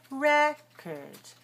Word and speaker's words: record: say record record no when I say the noun I I don't say that way I say record so notice the second syllable it's not or it becomes do you see the difference record record record record